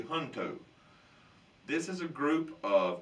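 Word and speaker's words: Junto: that's called the hunto it's spelled j-u-n-t-o but it's actually hunto this is a group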